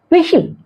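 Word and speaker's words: whistle: इसको पढ़ा जाएगा लिसन क्या पढ़ा है विशिल विशिल विशिल जो बजाता है बच्चे लोग बजाते हैं विशिल तो ये यहां पर टी साइलेंट होंगे और यहां कस्टल है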